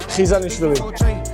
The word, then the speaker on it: Khizanishvili: It's very hard to pronounce. Oh, I want to pronounce it though. Tell me how it's said. Khizanishvili.